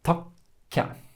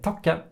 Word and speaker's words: takke: We don't say takke, we say takke. We do the same with lytte, hoppe. Yeah, so the stressed syllable, whenever you have these double consonants, has this tiny little break in order to elongate the p or the t or the k.